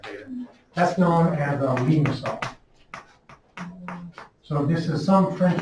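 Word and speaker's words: limaçon: I don't know, it's a French thing. So it's pronounced like an S, so it's a limosome.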